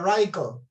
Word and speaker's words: radicle: La radícula en inglés se escribe casi lo mismo, se escribe radicle y se pronuncia radical, ¿ok?